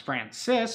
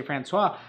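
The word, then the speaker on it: François: So yeah, Francois, I don't believe it's pronounced Francis because there's an O there. So I'm going to say Francois. How do you paint the sock liner so they don't stain your socks?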